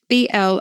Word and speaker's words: blowsing: I am blousing, B-L-O-W-S-I-N-G. You could pronounce it blowsing, but it means red-faced and somewhat dishevelled.